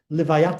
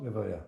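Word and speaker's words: לְוָיָה: It's a big mitzvah actually called Levayat Hames. Right? What is a funeral in Hebrew? How do you say funeral? Levaya.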